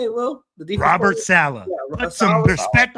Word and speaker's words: Saleh: The defense Robert Saleh.